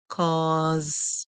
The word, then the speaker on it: cause: Remember, whenever S come before E, or after I, you can hear the S making a sound like Z in most cases. So you hear Z and the E would be silent. The E silent. So we have P, Oz, Oz, cause, cause. Our word here is cause, cause.